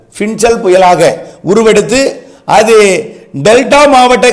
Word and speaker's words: Fengal: பின்சல் புயல் அது வந்து fe ஐ என் ஜே ஏ எல் இப்படித்தான் உச்சரிக்கணும் பின் ஜல் பின்சல் புயலாக உருவெடுத்து அது டெல்டா